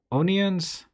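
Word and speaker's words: O'Nions: And there's another guy, David Onions. It's spelled O''Nions. He did some prints with Micro Four Thirds, and he was doing them.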